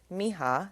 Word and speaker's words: Miha: I did see Miha made a Tik Tok clarifying it is Miha. That is how you say her name.